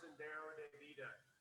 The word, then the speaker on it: Sendero de Vida: And can you please pronounce the name of the film? Absolutely. Shuar, which is an indigenous population. Shuar Sendero de Vida.